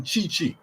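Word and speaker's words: Tite: got 110 confidence in chi-chi t-i-t-e pronounced chi-chi the brazilian manager to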